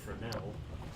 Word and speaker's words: Fresnel: I just learned that it's pronounced Fresnel, so that's neat.